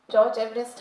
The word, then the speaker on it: George Everest: His correct pronunciation is George Everest.